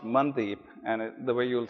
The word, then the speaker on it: Mandeep: is spelt you know it literally when you read it it reads mandeep uh it's actually pronounced mandip and the way you'll